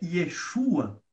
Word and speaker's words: Yeshua: E é quase a mesma pronúncia para a palavra Jesus, que é Yeshua, né?